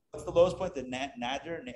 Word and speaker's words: nadir: The nadir? How do you pronounce it? Nader. Like Ralph?